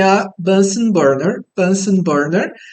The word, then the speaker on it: Bunsen: queimador literalmente e bunsen bunsen em português bunsen tá a gente pronuncia bunsen tá é o sobrenome